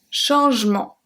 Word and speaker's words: changement: Un changement. Changement. Un changement.